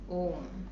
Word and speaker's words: ओम: हम अ, उ, म इस तरह अगर हम कहेंगे तो नाभि से इसका उच्चारण करते हुए हम अनुनासिक म तक पहुंचते हैं, जिसमें जीभ का प्रयोग नहीं होता है, और वही सही उच्चारण है ओम का, औ, न कि ओम।